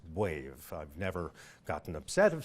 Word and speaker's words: B'Wave: term brain wave and so it is properly pronounced wave I've never gotten upset if someone pronounces it b-wave I just know they didn't hear me pronounce